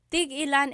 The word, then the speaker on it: tig-ilan: So tig ilan, when there's a hyphen in it, you have to have that glottal stop.